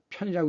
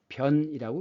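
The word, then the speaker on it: 便: 이것은 편한 편리할 편인데 이것이 똥오줌 관련일 때는 편이라고 읽지 않고 변이라고 읽습니다 그래서 소변 대변 이렇게 얘기하는 거죠 이것은 실사가 들어갔으니까 이것은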